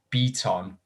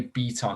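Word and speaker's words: Bitton: was going to nominate i think it's pronounced beton or it's near beaton i think his name is pronounced it's spelled bitten but the commentators are pronouncing it beton i think he's like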